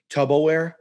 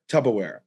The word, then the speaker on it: Tupperware: about just my buddy mispronounced the word tupperware he thought it was called tub tubberware tupperware and i and i